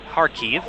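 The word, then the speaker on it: Kharkiv: five minutes uh also standalone audio coming from harkeef as they pronounce it been trying to get better at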